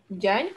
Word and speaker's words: Diagne: So like my last name is pronounced like DIAGNE. Jan quoi.